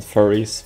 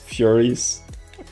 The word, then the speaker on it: Furies: Not Furries, Furies. It's important to say it correctly.